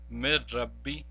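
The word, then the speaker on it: من ربي: Now remember, since ra is one of the letters of ra and lam, therefore we will not pronounce the noon as well here. Instead, we will pronounce it as mir rabbi, mir rabbi.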